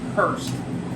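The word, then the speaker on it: Hors: uh it's pronounced H it's spelled h o r s it's pronounced Hurst um which is a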